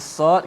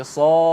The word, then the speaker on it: Sad: Ada setengah tu doktor dia baca soq. Dia qalqalah dengan qaf pula. Ada saya jumpa baca sof. Dia baca surah sof dengan fa mati. Maka sad ejaan dia sa alif dal.